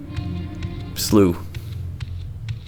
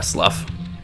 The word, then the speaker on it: slough: Slooh. It's not a river. It's a slooh. There's no elevation changes. It's kind of brackish ocean water. It's a slooh or a slough. So many different pronunciations.